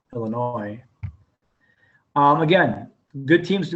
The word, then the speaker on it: Illinois: thomas and western illinois the s is silent illinois um again good teams